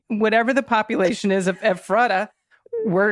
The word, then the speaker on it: Ephrata: Emphasis on the first syllable. Ephrata. Ephrata.